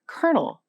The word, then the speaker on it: colonel: The R spelling pronounced colonel won out in speech.